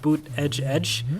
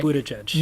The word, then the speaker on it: Buttigieg: I think his supporters have a chant "boot edge edge." Okay. Buttigieg.